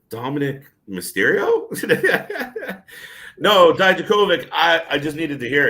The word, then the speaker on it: Dijakovic: because, like you, KJ, they were struggling to pronounce it. Dominic Dijakovic. Yeah. I was like, Dominic Mysterio? No, Dijakovic.